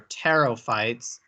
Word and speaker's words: pterophytes: These would be our pterophytes, and we have a P in front. The P is silent.